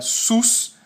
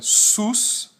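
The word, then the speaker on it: סוס: temos um consoante s o segundo consoante som de w e o último consoante o som de s mais uma vez Ah e essa pronúncia SUS é que dá e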